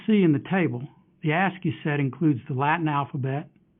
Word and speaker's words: ASCII: oldest such character encoding scheme is called ASCII pronounced ASCII husky stands for American Standard code for information